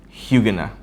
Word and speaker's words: Huguenin: It's spelled Huguenin, but it's pronounced Huguenot.